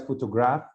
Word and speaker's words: photograph: be weak one week week the only strong syllable is this one which is stressed if you write photograph only to grab notice the difference so for